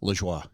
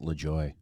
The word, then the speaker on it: Lajoie: Saying like Southern Ontario, where I'm from, they pronounce it Lajoie. Oh, wow. Yeah. Okay. Like Corey Lajoie, the race car driver. Yeah. Yeah. They pronounce it Lajoie. Okay. When I joined the army, they're like, "No, your last name's Lajoie."